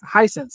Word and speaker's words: Hisense: Last week we talked about how you can play an Xbox on your is it, how do you pronounce it? Hisense TV? Henson? I always Hisense? Hisense.